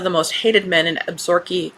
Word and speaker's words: Absaroka: When Pepper MacKenzie, one of the most hated men in Absaroka County um cuz that's how it's pronounced in Montana.